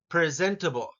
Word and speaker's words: presentable: Uh, Number two, presentable, presentable, presentable. Zent is what the second syllable sounds like, and that gets the emphasis.